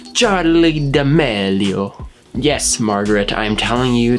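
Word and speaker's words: Charli D'Amelio: come on julian how do you go about pronouncing her name charlie the melio charlie damelio yes margaret i'm telling you that the 16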